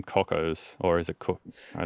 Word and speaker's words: Cockos: Why why did you go with the name cockos? Or is it co I don't know how to pronounce it. Cockos.